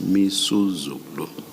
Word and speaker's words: Misuzulu: I mispronounced the king's name is Misuzulu.